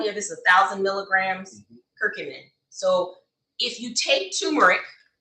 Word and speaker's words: curcumin: culture um look that's it how do you pronounce that person it's curcumin I have a cute man I took off